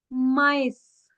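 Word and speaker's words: maïs: मेज़ को कहते हैं माइस।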